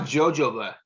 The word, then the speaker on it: jojoba: I thought it was jojoba, like a Jehovah's Witness.